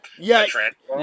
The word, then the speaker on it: Pietrangelo: I'm not related, and Alex, I guess I think he makes it pretty adamant that he wants to be called Pietrangelo. Yeah. As I just pronounced it, I kind of realized it after.